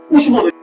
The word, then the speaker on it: উষ্ম: তারিত তারপর আসছি উষ্ম উষ্ম মানে কি বলতো? গরম। যদিও উষ্ম আবার অনেকে উচ্চারণ করে উষ। কারণ দেখ আমরা গ্রীশবকাল বলি। আমরা গ্রীষ্মকাল বলি না।